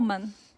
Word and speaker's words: 澳门: How you pronounce in your language? 澳门 Ao Men 不？